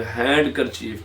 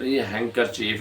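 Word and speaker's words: handkerchief: Wednesday बुध hang चीफ जिसको अक्सर लोग हैंड कर चीफ कहते हैं हैंड कर चीफ हैकर चीफ है डी यहां पर क्या है साइलेंट है उसके बाद ई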